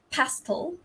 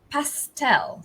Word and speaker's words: pastel: like that color so in british english it's the stress was on the first syllable it's pastel pastel right and in american english it's this stress on the second syllable so it's i hope i can